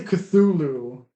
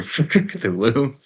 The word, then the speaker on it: Cthulhu: except they say we say Cthulhu and when she said her name in the anime it was like filthful like they said it she said it really weird. It's probably because the pronunciation in Japanese doesn't work for Cthulhu.